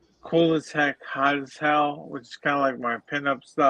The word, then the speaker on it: Koolasheck: One I think I'm going to call is pronounced Cool as Heck, which will be like